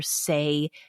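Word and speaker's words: Saie: kept getting over and over these ads for say beauty and say is spelled s-a-i-e oh so it's clean Beauty and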